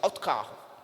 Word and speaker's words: autocarro: Ônibus, aqui ônibus, em lá é autocarro, que eles não pronunciam as vogais cheias, eles falam autocarro.